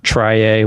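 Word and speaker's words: trie: table link list tree try a which is actually pronounced tree but I deliberately pronounce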